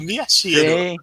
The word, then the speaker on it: Miyashiro: letra E, é o nosso querido Miyashiro, pronunciei certinho? Miyashiro.